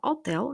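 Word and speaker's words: hotel: дехопа магазин одягу отел пам'ятаємо що ага літера Ага так яка тут стоїть на початку слова отел не читається ліврерія книжковий магазин паштуларія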